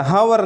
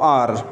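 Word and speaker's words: hour: अगो mean पहले, एन आर एक घंटा, हावर न कहो आर. आर का करेक्ट प्रोनाउंसिएशन इसका आर है. आर mean just like A बी सी में जो हम आर लिखते हैं, वी शुड pronounce it in this way.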